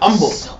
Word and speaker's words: humble: in the world um not humble humble we're gonna the h is silent yeah it's or or humble right like that when a